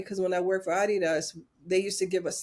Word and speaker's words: Adidas: And I don't know if you know this, but Adidas is pronounced Adidas because Yes.